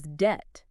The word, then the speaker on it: debt: So, you know, a perfect example is debt. Debt comes from the Latin debbitum. And they just stuck that B right back in there.